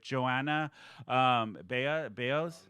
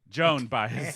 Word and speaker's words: Joan Baez: But Joanna Baez, I think that's how you say it. Joan Baez, sorry.